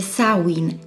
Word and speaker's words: Samhain: On pense que les racines d'Halloween se trouvent dans l'ancienne fête celtique de Samhain (prononcé « Sałin », orthographié « Samhain »), célébrée par les Celtes vivant aujourd'hui en Grande-Bretagne et dans le nord de la France.